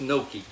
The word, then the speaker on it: gnocchi: gnocchi it is and that's pronounced gnocchi and all right bacon's